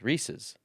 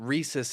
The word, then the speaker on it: Reese's: would it be Reis I have never heard SES pronounced sis it's Reese's s i Reese's yeah exactly re it's not Rees that's what I'm getting at it's not rees's pieces well it's not reesus either yes it is yes